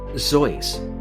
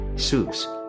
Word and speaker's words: Seuss: his middle name and he pronounced it zo like voice though most people today say Seuss and that's okay too